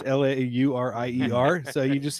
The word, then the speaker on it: Laurier: the trade and basically my way to speak french is don't pronounce the last syllable so you know this is called domain laurier so it's l-a-u-r-i-e-r so you just say